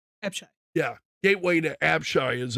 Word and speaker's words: Apshai: Also Gateway to App, I'm going to mispronounce this. It's Apshai. Apshai.